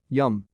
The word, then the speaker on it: Liam: That doesn't sound so bad until you hear the pronunciation. Yum. Like, William. They called their child Yum and spelled it Liam.